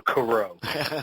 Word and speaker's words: Coreau: Tom it's French and I have a problem pronouncing it oh Coro there you go it's it's spelled French it